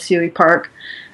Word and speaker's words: Suey Park: So maybe did you want to chime in here, Rachel, with what's going on with Suey Park?